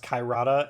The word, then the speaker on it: Karada: So for Holly Reese, it's gonna be Chai Rada. Yeah. Yeah. Yada. And I guess for the audience's purposes, you should know it's actually pronounced Kairata, and it's super offensive.